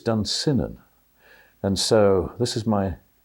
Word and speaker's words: Dunsinane: Who knows, maybe he was inspired by Burnham Wood and Dunsinane, or Dunsinane as I pronounce it, I think correctly, whereas Shakespearean actors tend to say Dunsinane, but I think it's Dunsinane.